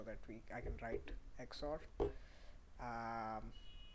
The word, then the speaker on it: XOR: little bit so that we I can write xort um X or so that's how it's pronounced it's called X or and yeah so